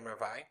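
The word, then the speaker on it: רבעי: We're going to deal with Ravai. That's what we pronounce it, Ravai.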